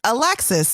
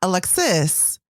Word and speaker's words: Alexis: Your name is Alexis, not Alexis or Alexis. So that means the emphasis is on which syllable?